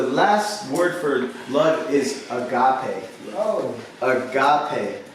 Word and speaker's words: agape: The last word for love is agape. Oh. Agape. A-G-A-P-E. Looks like the English word agape, but it's pronounced agape in the Greek.